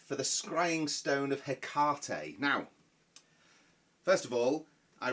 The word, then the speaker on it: Hecate: the Scrying Stone of Hecate. Now, first of all, I realise that the usual pronunciation of Hecate is Hecate or Hecate. I don't like that, so it's Hecate for this evening.